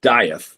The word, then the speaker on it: Dieth: So actually, the name as we pronounce it is Dieth. Oh, it's Dieth? Okay. Yeah. It's like Dieth, like you know, think like Hamlet, Shakespeare, right?